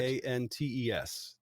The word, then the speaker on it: Nantes: Nantes, Nantes. Well, Is it S or Z? Either way, it's not pronounced, but it's not.